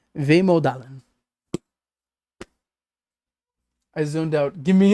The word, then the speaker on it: vemodalen: Pronounced Vemodalen.